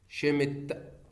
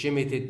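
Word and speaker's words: Schmidt: طيب في عندي تفاعل بعد كده اسمه شيمت ري ارينجمنت، شيمت ري ارينجمنت برضه من تحضير مين؟ البرايمري امين اللي هو الانيلين. شيمت ري ارينجمنت مش شيمتد، لا الاي والدي دي اس شباب سايلنت ما بتنطقش.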